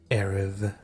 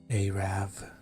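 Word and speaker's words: Arrav: Let's go to Varrock so we can do Shield of Erev. Arav. Arav. Shield of Arav. I wonder what's like the worst way you could pronounce that word.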